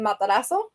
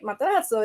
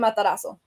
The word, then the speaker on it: Matarazzo: So I pronounce it Matarazzo. Technically, it's like Matarazzo. It's like more emphasis in Italian, but I pronounce it Matarazzo. So very more Spanish.